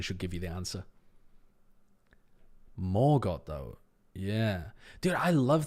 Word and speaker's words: Morgoth: Is Morgoth pronounced Margot? I think me articulating the question should give you the answer. Morgoth, though.